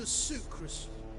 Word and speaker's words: Sucrus: Sucrus. The man's a boor. Sucrus, that's how you say his name.